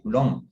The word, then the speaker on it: Coulomb: U en español y me parece que la B no se pronuncia. Entonces el nombre se pronuncia realmente Coulomb, ¿verdad?